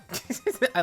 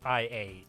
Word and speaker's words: IA: and jakc told me it's not pronounced I a it's pronounced I so it's I yeah for the last 10 years I thought it was IIA nah but you know